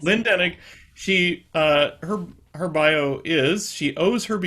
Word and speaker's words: Lynne Denig: Is this the correct pronunciation, Rachel? Is Lynne Denig, yes, yes. Lynne Denig.